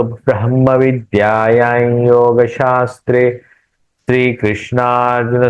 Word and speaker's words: ब्रह्म: पुरुषोत्तम योगो नाम पंचदशोध्याय ब्रह्म ब्रह्म इसका उच्चारण ब्रह्म ब्रह्म ह का उच्चारण पहले होगा ब्रह्म ब्रह्म या है